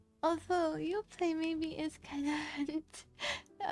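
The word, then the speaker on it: Yoplait: It's just your play putting my pinky up. It's just your play. Although your play maybe is kind of already because you don't pronounce the T at the end, but they're not actually they're not actually French.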